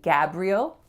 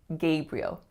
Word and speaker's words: Gabriel: So they might say Gabriel, and that may be how you hear that name pronounced once in a while, but more often than not, you are going to hear Gabriel, Gabriel.